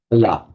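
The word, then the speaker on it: bāla: Bala, with a short two short bala, and bala. These are two entirely separate words.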